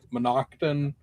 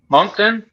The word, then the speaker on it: Moncton: Is that the one that's in Monocton or Monocton or whatever it is? Moncton? There you go.